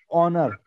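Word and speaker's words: honor: Silent हो जाता है, या ऑनर एच से शुरू होता है, एच साइलेंट हो जाता है।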